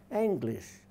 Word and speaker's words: English: jutes and the fans let's just look at the word English it's spelled not as we say it cuz it should to be spelled ining right but it's anglish just sort of wind back a little further and you get anglish and that comes from